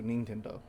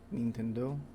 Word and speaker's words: Nintendo: is it being central most english speakers pronounce this name in a way that sounds very foreign to the japanese ear and the usual english pronunciation the first part of the name rhymes with pin mean with a short i sound however in japanese it's pronounced nin yeah okay because in japanese though i is always pronounced the same way regardless of what happens to follow it so nintendo nintendo nintendo